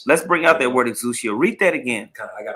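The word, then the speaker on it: ἐξουσία: Now, particularly in this verse, the word power in the Greek that's pronounced exousia.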